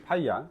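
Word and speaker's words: ∅: 저거를 읽을 때는 파이라고 읽어야 돼요. 얘를 읽을 때는 파이라고 읽어야 돼요. 알았죠? 이거는 파이입니다. 얘 기호 이름이 파이야. 알았죠?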